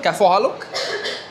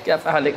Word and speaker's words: كيف حالك: In Arabic, kaifa haluk? كيف حالك? Kaifa haluk? Yes. Kaifa haluk?